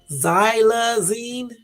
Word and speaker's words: xylazine: X sounds like Z. Xylazine.